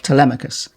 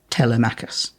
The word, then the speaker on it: Telemachus: That's also very helpful for just working out what syllable people's names are supposed to be emphasized on, like Telemachus and not Telemachus.